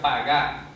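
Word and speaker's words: פגע: el verbo hebreo pagar Entonces se pronuncia pagar Qué significa pagar significa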